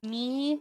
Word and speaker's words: knee: Or like knee is Knee. What's the K for? What's the K for? What? It's not knee. No. And the K is silent.